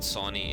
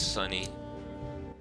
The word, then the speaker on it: Sonny: appreciate that sonny that is how you say it sunny well living in third world country my deepest apologies it's not sony it's sunny lewis lewis's number is